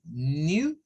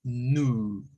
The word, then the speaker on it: new: Ahí como está planteado como new, y también se puede hacer con el sonido nu. Vea que es solo la U. Y new, con el sonido de la U, pero con la J. Como you, new. Son los dos sonidos que se pueden hacer.